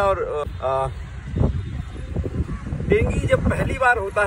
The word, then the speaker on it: Dengue: वो जो है डेंगी कहते हैं, डेंगी एक्चुअली है, यहाँ पे लोग डेंगू बोलते हैं पर प्रोनाउंसिएशन डेंगी है।